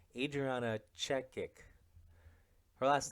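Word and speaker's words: Chechik: know who um Adriana checknick check is she's a porn star wait I think I said a name last name wrong Adriana check kick her last name or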